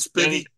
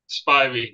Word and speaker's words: Spivey: night against Danny Spivey Spivey is that how you say it it's not spiny Spivey Danny Spivey knocked him